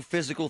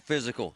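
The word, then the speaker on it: Fyzical: You want a new physical therapy experience?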